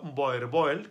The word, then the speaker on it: boerboel: vuelvo a él y seguiré diciendo boerboel con tal cual lo leemos nosotros entonces el grijalón es